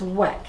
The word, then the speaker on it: Weck: The one downside of pressure canning with wick jars, weck, I say it wrong all the time, it's weck, W-E-C-K, not wick like the wick of a candle, weck.